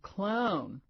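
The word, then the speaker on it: Klougahn: I've been hearing that it's spelled k l o u g a h n clown could be worse Lula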